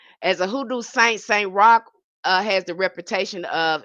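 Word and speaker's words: Roch: His name is Saint Rock name spelled R O C H. R O C H but pronounced R O C K.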